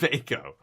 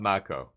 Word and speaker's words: mako: They're they're pronounced Mako. It's not Macco.